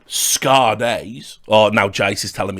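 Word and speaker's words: Skade: It definitely is Scade. I've double-checked. It's a Norwegian organisation. That's how they say it. It's not Scade. It's not Scade. It is Scade. A bit like, you know, that female singer from the 90s, Sade, but her name was spelt Sade.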